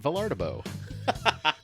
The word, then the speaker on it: Vilardebo: go oh it's vardo very very good so it's like I always tell people it's pronounced just like it's spelled yeah yeah uh and